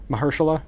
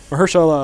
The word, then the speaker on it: Mahershala: A lot of like retribution happens in the way that like Mahershala Ali, and I pronounced his name wrong 3 times already now. Mahershala. Mahershala? That's it. Mahershala Ali.